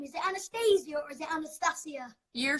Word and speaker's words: Anastacia: But different countries, and because of the CIA at the end, people are so confused. So they go Anastacia, Anastacia, well, if you're from Asia, you go Anastacia because you can't pronounce the C.